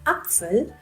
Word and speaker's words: Apfel: Here in the word der Apfel, it is like something between A and A.